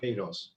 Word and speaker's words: Queiroz: When it's Q-U, we don't pronounce the U. So it's Queiroz.